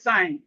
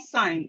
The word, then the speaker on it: sign: So this is sign. This word says sign. If I want to sound sign, or I say, okay, Madam Babatunde sound sign, you go sign. Okay, sign. You will not hear the G sound. Okay, that's simply to show us that the G is silent.